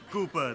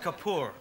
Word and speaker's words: Kapoor: Vanessa you little no how is Master Cooper these days it's pronounced Kapoor right it's traveling all around